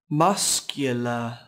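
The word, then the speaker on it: mascara: cô Hạnh nhé charyn masscara mở is l marshall từ nay có 3 âm tiết trọng âm rơi vào âm Tiết đầu tiên các bạn nhé âm Tiết đầu tiên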